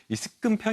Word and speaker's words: 습근평: 자기한테 조금 어색하게 드렸는데요 이제 북한에서는 이 한자어를 우리식 한자 발음 그대로 이제 표현을 해 가지고 습근평 이라고 이렇게 얘기하고 있고요 이게 뭐 조선중앙통신 노동신문